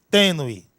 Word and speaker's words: tênue: Observe, esse U, ele está sendo fracamente pronunciado. Ninguém diz tenue, não, tenue. Esse E, ele sobressai sobre o U.